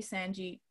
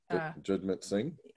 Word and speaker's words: Jagmeet Singh: And if we've seen anything the leader, I can never pronounce his name properly, Sanjit. Jagmeet Singh.